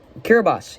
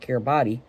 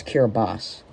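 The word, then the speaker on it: Kiribati: Kiraabas. Yes, it's called Kiraabas, not Kiraabi. Uh, it's pronounced uh with an S at the end. So, it's Kiraabas.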